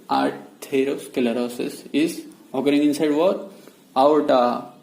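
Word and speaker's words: atherosclerosis: अब आएगा आर्थेरो, the spelling देखो, वहां पे आर्टेरो है, यहाँ पे आर्थेरो है। Okay, so this is the difference. आर्थेरो स्क्लेरोसिस तो सेम ही रहेगा। सो आर्थेरोस्क्लेरोसिस, here Thero, there is टेर, ओके, हियर इज थेर।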